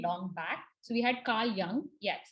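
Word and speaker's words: Carl Jung: back so we had carl young yes it's pronounced as uh it's written as jung but it's pronounced as carl young so what he did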